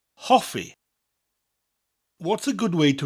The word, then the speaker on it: Hoffi: The important word in this lesson is Hoffi, which means to like or liking. Hoffi. Hoffi. What's a good way to remember this word? Well, we can rhyme it. Hoffi rhymes with coffee.